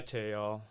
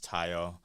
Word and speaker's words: Tayo: So I go by Tayo. African pronunciation is Tayo.